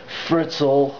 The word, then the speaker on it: Fritzl: and i don't know this guy fritzl rhymes with schnitzel which is basically german